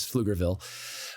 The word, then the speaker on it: Pflugerville: the Pflugerville it's it's the P is silent for some reason is Pflugerville but anyway okay so